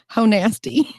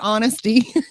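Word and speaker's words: Honasty: Ho. Nasty. Ho. Nasty. Now that's funny. That's what it looks like, but it's pronounced honesty.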